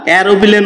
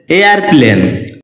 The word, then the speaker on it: aeroplane: এয়ারপ্লেন এটাকে আমরা এরোপ্লেন উচ্চারণ করে থাকি যার সঠিক উচ্চারণ হচ্ছে এয়ারপ্লেন শব্দটি বাক্যে নাউন হিসেবে